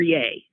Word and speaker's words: Ye: If your name is simply Ye, is that how it's pronounced? Y-E, Ye or Ye? Because that's who he is now. Kanye, I'm willing to bet. It's Ye.